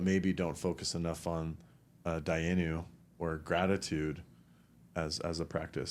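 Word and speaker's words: דיינו: Dayenu. The Hebrew word, yeah. Dayenu. Uh-huh. Yep, that's how you say it.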